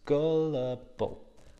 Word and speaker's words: gullible: anything they hear and it has three sounds gullible gullible and like always with the all use your tongue tag a gullible person